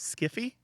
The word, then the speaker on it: sci-fi: it's a weird one some people jokingly pronounce it as skiffy um and especially if